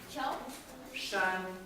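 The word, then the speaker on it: 山: now and it means mountain and you say Shan and similar is for example is very much that's pronounced like this it's a bit of a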